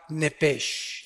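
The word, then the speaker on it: nefesh: en el original hebreo es la palabra nepes apúntala como suena nepes con sh se pronuncia nepe al morir algo se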